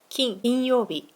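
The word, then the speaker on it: 金曜日: 曜日の時は金曜日と読みます。Saturday は土曜日です。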